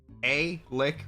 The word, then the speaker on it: Alec: Alec Reef, A-Lick Reef, the way it's spelled.